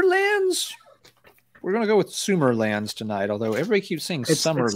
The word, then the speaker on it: Sumerlands: oh yeah consumer lens we're gonna go with sumerlands tonight although everybody keeps sings that's why it's